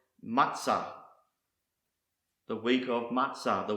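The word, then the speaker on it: מצה: Malek or sovereign the next Hebrew word is pronounced matzah matzah some of you may be familiar with his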